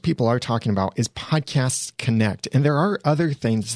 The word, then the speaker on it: Podcasts Connect: Now, I have to be very precise in the pronunciation because it's podcast with an S, plural, at the end, Podcasts Connect, because technically Podcast Connect is someone else's trademark.